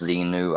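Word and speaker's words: Xenu: So they have it written Zenu or Zmu, which technically it would be pronounced Zenu either way, even if it's spelled with an M.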